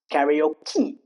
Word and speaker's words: karaoke: See there is e e sound at the last which we do pronounce karaoke recipe catastrophe machete cafe fiance.